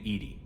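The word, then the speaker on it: EDI: a specific inquiry um why are you named Ed Ed is the phonetic pronunciation of e no that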